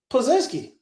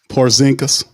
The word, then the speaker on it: Porzingis: how the hell Micah Peavey is guarding uh Pazinski. Wait, did I say his name right? Uh, talking about the the the unicorn. They gave him the nickname unicorn. Porzingis.